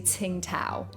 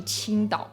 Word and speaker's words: Tsingtao: how weird it is for me to say ting tao like ting tao that sounds ridiculous it sounds